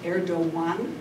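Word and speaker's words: Erdoğan: out the Prime Minister aridon um erdoan in Turkish it's pronounced erdoan the G is pronounced like a w um he has he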